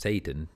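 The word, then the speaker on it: Seyton: there's probably no it's not a coincidence that Satan is pronounced Satan s80 om Satan for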